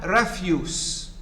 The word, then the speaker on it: refuse: verb reject as a noun refuse meaning garbage trash as a verb refuse so it's a it